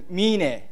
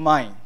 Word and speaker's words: Mine: And my family name is Mine. It's not mine. It's so my it's not my my sushi, but so it's meaning the pronunciation is Mine. So in fact, it's Mine in Japanese.